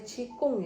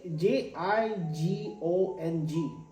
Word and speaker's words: Jigong: atau pakai q j j bukan chikung ya Cikung kali j j i g o n g Itu jigong enggak apa-apa ya Tapi